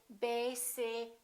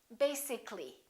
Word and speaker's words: basically: let me show you when we say the word basic it has two syllables if we add a ll Y we don't say basically this a disappears so the a is not pronounced and we say basically take a look at